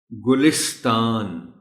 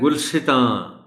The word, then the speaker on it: گلستان: کو پڑھا جاتا ہے۔ ایک تو ہے جیسے میں نے بھی پڑھا اور درست تلفظ بھی یہی ہے، اور وہ یہ ہے گلستان۔ گلستان یعنی زیر لام کے نیچے ہے۔ دوسرا طریقہ جس سے کچھ لوگ پڑھ جاتے ہیں وہ ہے گلستان۔ گلستان درست طریقہ یہی